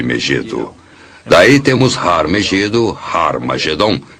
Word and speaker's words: Har Magedon: E realmente em algumas das antigas versões do Novo Testamento, escritas em grego, Armagedon tem o som aspirado no início, que significa que era pronunciada com H.